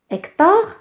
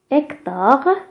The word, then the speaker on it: Hector: Hector, Hec, la lettre H, c'est une lettre muette. Il ne se prononce pas.